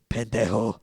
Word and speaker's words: pendejo: Would you say he's a pendejo because he took your pen? Hey, that was a good one, Gator. Yeah. You should have just said it right, though. It's pendejo.